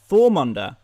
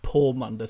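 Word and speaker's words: Þormunda: The P symbol is similar to the TH. It's Thormunda. Thormunda sounds a lot cooler than Pormunda, to be fair.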